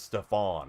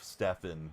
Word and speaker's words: Stephen: They referred to him as Stephon, like Stephon Urkel, instead of Stephen Curry.